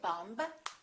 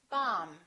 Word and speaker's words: bomb: example don't know that the B is silent in the word bomb we don't say bomb we say bomb let's review some very